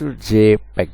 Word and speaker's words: JPEG: JPEG అంటే short for Joint Photographic Experts Group and pronounced JPEG, is a file format best used for photo images which must be very small files.